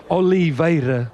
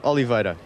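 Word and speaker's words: Oliveira: you know like for me to and it's Oliva ol Oliva okay thanks buddy we've all been saying it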